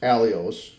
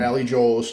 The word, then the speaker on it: Alios: That's how you That's how you pronounce it, folks. Alios, not Ali Joles. Not PC fun.